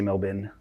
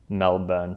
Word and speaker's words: Melbourne: even matters that whole you got to say melbour not really yeah I think it's it's Matt um what's his name Matt Damon's fault because he's like the born identity and it's spelled melburn style we're pinning it all